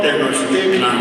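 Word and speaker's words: Tenochtitlan: la gran México tenostitlan se llamaba mxico tenostitlan así se pronunciaba mxico tenostitlan era una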